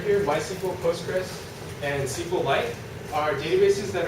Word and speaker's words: Postgres: then this thing is called this this is pronounced postgres and then you have sqlite and then Microsoft